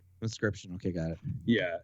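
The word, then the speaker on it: Inscryption: got it yeah it's it's spelt weird though it's it's i n s c y p t i o n yeah it's like you know like crypt but yeah so it's so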